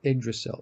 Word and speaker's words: Yggdrasil: Is it Yggdrasil? Yeah, it's either that or Yggdrasil. I believe the Y is pronounced like an I. Oh, Yggdrasil. Yggdrasil.